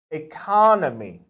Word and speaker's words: economy: You would say economy, okay? Economy, but you would have to say economic, okay?